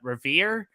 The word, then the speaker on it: Revere: going on uh hopefully i'm pronouncing your last name right uh revere uh the alligator shot was classic yeah absolute did i mess that up no you got it right it was just